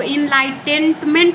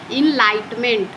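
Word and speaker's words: enlightenment: तुम्हारे पास मोबाइल है इनलाइट इनलाइटमेंट देखिए यहां पे आप इसको इनलाइटेंटमेंट नहीं पढ़ सकते हो इनलाइटेनमेंट नहीं पढ़ सकते इसको पढ़ना है इनलाइटमेंट इनलाइटमेंट ठीक है यहां पे इ और एन साइलेंट है एब्डोनमेंट अबेंडॉन इसको आप लोग अबेंडोनमेंट पढ़ेंगे।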